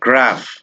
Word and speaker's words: graph: ring ring এরপরে আছে পিএইচ যদি পিএইচ থাকে এটাকে বলতে হবে ফ ঠিক এক্সাম্পল যদি আমি দেই ফোন ফোন ফোন ফোন অথবা গ্রাফ গ্রাফ গ্রাফ এরপর আছে কিউ ইউ